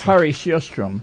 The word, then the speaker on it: Harri Sjöström: Do you want to tell me, or you want me to read the mispronunciation? Oh, sure. That's Harri Sjöström. Yeah, Harri Sjöström.